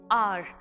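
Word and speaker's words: hour: our the word our begins with a consonant H but it is silent and we say the word softly are as if it begins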